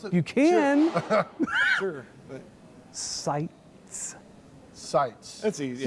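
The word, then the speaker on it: Sitze: it you can sights sites that's easy right like sights and sounds but it's spelled differently exactly yeah okay so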